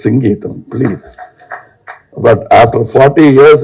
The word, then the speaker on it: Singeetam: In Tamil Nadu, he used to get very upset because say, Mr. Sangeetam. No, it is Singeetam, please.